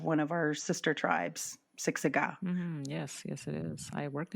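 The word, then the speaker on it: Siksika: Siksiga. That's the Blackfoot word for Blackfoot. That's also the name of one of our sister tribes, Siksiga. Yes, it is. I worked at Siksiga.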